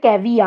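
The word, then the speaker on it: caveat: 1 2 3 4 5 6 রিপাগনেন্স, তারপর পড়লাম হচ্ছে তোমার ক্যাভেট, ক্যাভে কিন্তু এটা হচ্ছে ক্যাভিয়া, বেসিক্যালি টি এর উচ্চারণ নেই কিন্তু ক্যাভিয়া, তারপর হচ্ছে ওবেসেন্স, তারপর বললাম লুগুরিয়াস।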